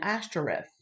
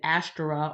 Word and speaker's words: Ashtoreth: And so, yes, Baal was one, and Ashtoreth or Astera. It's like Astera, but they pronounced it like Ash.